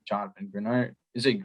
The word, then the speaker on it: Greenard: for the future, especially when guys like Jonathan Greenard, is it Greenard or Greenard? How do you pronounce that?